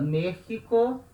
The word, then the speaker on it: México: falado em alguma aula, palavra México se escreve com X, letra X, mas tem som de J.